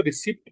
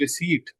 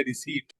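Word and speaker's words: receipt: कुछ बच्चे इसको रिसिप्ट पढ़ते हैं, ये रिसिप्ट नहीं है, दिस इज रिसीट। पी जो है वो साइलेंट है, रिसीट।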